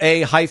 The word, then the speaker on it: Aleer: During the commercial break, I found the pronunciation guide. So, Aleer, it's capital A-L-E-E-R.